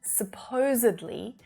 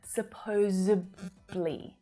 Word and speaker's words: supposedly: we move along to the adverb form supposedly well that's when native speakers can really start making a few errors right that d is often mispronounced as a b sound supposably supposably and we use supposedly